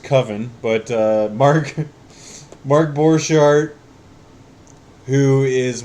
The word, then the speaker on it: Coven: They talk a lot about this movie, and I'm very excited to finally be the proud owner of Coven, or as it should be pronounced, Coven.